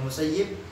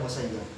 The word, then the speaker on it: Musayyib: Ada yang bacanya Musayyib, ada yang bacanya Musayyab.